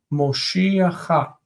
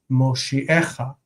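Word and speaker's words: מושיעך: And when it's in pause, this syllable suddenly becomes stressed, and it's Moshiecha.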